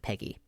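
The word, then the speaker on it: PEGI: it's peggy pg pgi yes peggy well they say they pronounce it peggy so you got 3 7 12 16 and 18.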